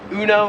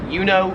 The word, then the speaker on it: Uno: Pronounce it Uno. It's kind of like the emu one. Uno. Here, it is more pronounced like Uno.